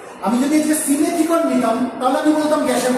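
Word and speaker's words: Simethicone: ঠিক আছে, যেমন হচ্ছে সিমেথিকন, অনেকে আমরা সাইমেথিকন বলি, অ্যাকচুয়াল প্রোনাউন্সিয়েশন হচ্ছে সিমেথিকন।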